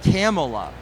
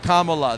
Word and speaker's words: Kamala: we got into this CU he was saying camela and then other people said Kamala but I